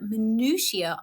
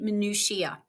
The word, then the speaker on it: minutiae: In American English, you will probably say minutiae, adding that extra syllable on the end.